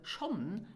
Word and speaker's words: schonn: So sometimes the N of Schonn are dropped and then it is pronounced Scho.